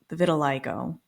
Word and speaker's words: vitiligo: And I also, during this time, because you talked about the vitiligo, is Mhm. that how you pronounce it also?